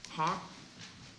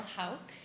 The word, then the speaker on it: Houck: darling Belinda darling Hawk back to my mispronunciation of last night Hawk afternoon my name is Houck and I live in